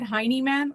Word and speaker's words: Heineman: i'm pronouncing this correctly somebody said hiney man like like butt man um and i i